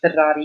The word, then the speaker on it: Ferrari: Yeah, so my full name is Ferrari, and it's spelled, and Ferrari is like the car, Ferrari.